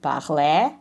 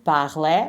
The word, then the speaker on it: parlait: And then il parlait. Remember, the S is not pronounced.